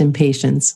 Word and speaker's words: impatiens: really helpful is called impatiens which is really easy to remember what it's for because to me it sounds a bit like impatience and here in the states it is pronounced impatience oh it is old